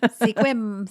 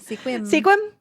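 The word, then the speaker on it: Sequim: another one that is commonly pronounced because it is spelled sequum sequum squim squim squim and last but not least the 26th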